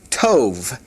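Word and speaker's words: טוב: In the masculine is pronounced tove. Tove, kind of like to ov to.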